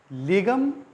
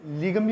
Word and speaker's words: Legum: कई लोग 'लेगम' का उच्चारण 'लीगम' भी करते हैं। आप इसे लीगम भी कह सकते हैं। लेकिन इसका सही उच्चारण लेगुम है।